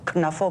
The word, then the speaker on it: Knuffle: The first one, Knuffle Bunny, or as a German like to call it, Knuffle Bunny.